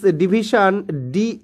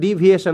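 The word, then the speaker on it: deviation: তোমরা বুঝতেই পারছো this ডিভিশন ডিভিশন অফ the text ডিভিয়েশন উচ্চারণটা ডিভিয়েশন হ্যাঁ ডিভিশন নয় ডিভিয়েশন অফ the text from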